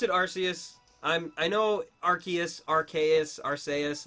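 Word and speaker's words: Arceus: it's all good archus is the correct pronunciation there's so many though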